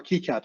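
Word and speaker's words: KiCad: We designed all those in Kyad at the time because actually we couldn't afford an altium license. Uh so that's that's what we uh that's what we did or Keycad sorry how you pronounce it.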